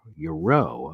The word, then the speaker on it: gyro: Oh, it's the pronunciation for gyro is euro.